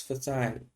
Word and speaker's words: facile: So the pronunciation is facile.